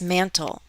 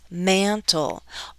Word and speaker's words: mantle: We don't stress articles, but we're going to stress mantle. Bum bum. 2 syllables, mantle. Often 2-syllable nouns have the first syllable stressed. Mantle.